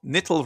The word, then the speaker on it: Nittel: Furthermore, nittel rhyming with bittul is often taught as an acronym for nicht Torah lernen, a reference to the hiatus on Torah study.